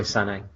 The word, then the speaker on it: Sané: Maybe it's truly pronounced Sané, like excellent footballer Leroy Sané, who plays on the wing for Manchester City.